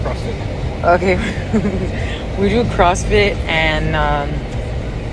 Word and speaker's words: CrossFit: Did I say it wrong? I call it CrossFitness. Is that wrong? It's just CrossFit.